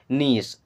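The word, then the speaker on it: knees: your your मीस अपना नीस एंड नी का मतलब होता घुटना यहां पर के साइलेंट होता है इसे नीस बोलते हैं नी का मतलब होता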